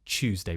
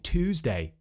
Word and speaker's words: Tuesday: with modern RP, I tend to say Tuesday with a ch sound, like in choose. So I use Yod Coalescence. I know a few older people who would still say Tuesday. Maybe you actually pronounce it in more of an American accent. Maybe you're saying Tuesday with just a t sound, Tuesday.